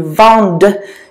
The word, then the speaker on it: vendent: But the last one, ils vendent, you do have to pronounce it because of that silent E.